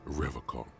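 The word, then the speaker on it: Revachol: He pronounces Rivercon with a hard K, unlike other people.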